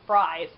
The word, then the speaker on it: Fries: got this Dr Victor freeze I used to think it was Dr Victor Fries for some reason he was oddly pronounced his last name was oddly pronounced as fries in uh the show Gotham and then okay and